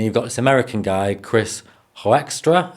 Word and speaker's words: Hoekstra: And you've got this American guy, Chris Hoekstra, I think is how you pronounce his surname, and he gives these very educated, level-headed breakdowns, and they balance off each other perfectly.